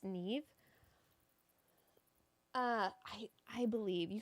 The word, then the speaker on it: Niamh: This is the Neve sweater scarf. It's an Irish name, so it will be spelled I believe N A I M H. It's pronounced Neve.